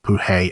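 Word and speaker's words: Poehee: He is famous for his own made-up exclamations, like Pohee, approximately pronounced as Puhe and Hatzeflitz.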